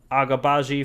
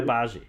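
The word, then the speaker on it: Agbaji: pistons then cleveland took agabaji from kansas at number four the g's not pronounced no ochai ochai obazi all right i know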